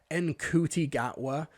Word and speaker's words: Ncuti Gatwa: And you can't even be bothered to, pretend to pronounce his name correctly. Ncuti Gatwa.